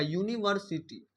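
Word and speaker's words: university: में अगर लिखते हैं, वास्तव में इसका जो ध्वनि करते हैं, उच्चारण करते हैं, तो देखिए क्या आएगा? यूनिवर्सिटी। क्या आता है? यूनिवर्सिटी, यूनिवर्सिटी। तो यहाँ पे य जो है, य है क्या बोलते हैं? व्यंजन ध्वनि।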